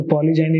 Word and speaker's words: polygyny: यहाँ पे प्रोनाउंसिएशन हम लोग जाइनी करेंगे, और जब GYNECOLO गाइनेकोलॉज वो जब लिखेंगे तब उसका उच्चारण गाइनेकोलॉजिस्ट हो गया।